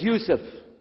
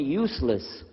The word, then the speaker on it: Yusuf: work on it chalo my name is Yusuf he say Yusuf he said you said you're very good I wish you teach my wife she keeps mispronouncing it she calls me useless haha hamdullah now how